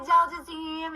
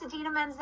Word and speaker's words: Idina Menzel: John Travolta pronouncing Idina Menzel's name wrong at the Oscars. And this is such a good use of TikTok for Idina Menzel. Hey, Adele Dazeem, it's Idina Menzel.